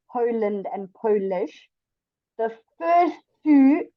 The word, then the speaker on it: Poland: empathize that you um instead of going Poland you go Poland because the PO must be stronger than the land do you understand okay so Poland is already two syllables it's Po and land and polish is also to Poe and Niche so your PO is your stronger sound it's Poland not Poland can you hear the difference yes good police good